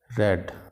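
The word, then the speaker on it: read: Paid, put, पुट, रीड, रेड। Spelling तो वैसे ही होते हैं लेकिन इसको रेड बोला जाता है, प्रोनाउंस इसको रेड किया जाता है, यहाँ पे ये प्रोनाउंसिएशन लिखी हुई है।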